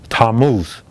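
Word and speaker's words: Tammuz: He explained that in Thomas in India and in the Middle East they called it tamoose. It's spelled T A M M U Z and other spellings.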